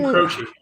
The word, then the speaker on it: Croce: say that name right there Croc it's Jim Croce that's Jim oh I know that's I know